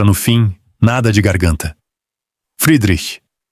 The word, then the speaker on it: Friedrich: Friedrich, com esse chacha final leve e para a frente, mais perto de um chacha soprado do que do raspado de Bach.